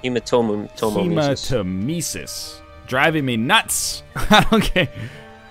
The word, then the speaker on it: hematemesis: It's pronounced hematemesis, not hematemesis.